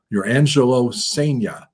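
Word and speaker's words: Jurrangelo Cijntje: Your Angelo Sea is how we're told it's pronounced.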